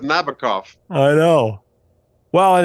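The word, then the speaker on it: Nabokov: Shaken cough rhyming with Nabacov.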